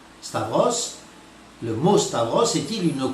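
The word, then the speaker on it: σταυρός: du temps il prononce Storos mais en grec sachez que la bonne prononciation c'est Stavros Stavros le mot Stavros est-il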